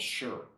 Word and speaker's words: shi: any move is called sure spelled Shi but pronounced with a little bit of an R so sure um Kai